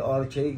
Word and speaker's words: Ochre: Kung ito po yung kung tama yung aming pronunciation na Ochre, Orche, ganun po ang ibang nagpo-pronounce ng Yellow Ochre. Pero ako Ochre ang gagamitin ko.